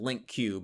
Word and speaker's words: LingQ: It's LING or LINKQ, and some people pronounce it LingQ.